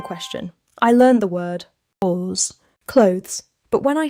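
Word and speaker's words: 옷: First, "ot", clothes, spelled with "s", spoken like "ot".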